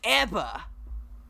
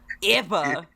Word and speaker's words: ABBA: Do you like ABBA? ABBA. It's not ABBA. It's ABBA. That's it.